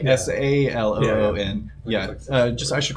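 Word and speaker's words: Selûne: S-A-L-O-O-N. Yeah. Yeah. Just I should clarify. Saloon, the goddess, is spelled S-E-L-U-N-E.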